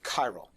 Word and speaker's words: chiral: said to be chiral it's a ch but it's pronounced like a hard c chiral chiral means handedness hand